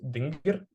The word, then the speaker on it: dingir: It means God when pronounced dingir, but it also means sky when read as an.